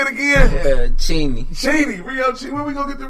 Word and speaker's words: Rioo Cheeny: Rioo Cheeny.